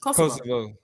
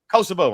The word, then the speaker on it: Kosovo: Koso. Kosovo.